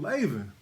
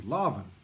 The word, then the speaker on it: Laban: And Laban, hold on a second. Let me just look at something. All right. Saying his name wrong as well. It's Lavan.